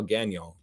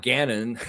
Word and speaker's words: Gagnon: This is how you spell Gagnon. That's how you spell it, bro. And it's not Gannon.